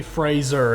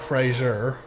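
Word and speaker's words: Frazer: that art was around places it existed chloe fraser and not frasier i i believe it's pronounced frasier though but they say they said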